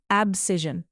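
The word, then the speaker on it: abscission: इसका प्रोनाउंसिएशन है एब्सिजन meaning cutting of separation यानी अलग करना या काटकर अलग कर देना।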